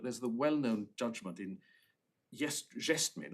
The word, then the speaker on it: Gestmin: Well, we haven't got it, but there's the well-known judgment in Gestmin, or Guestmin as it's sometimes pronounced, of Mr.